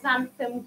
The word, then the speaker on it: xanthan: the addition ingredient of xanthan gum so it begins with an x it doesn't necessarily sound as it's spelt and but you just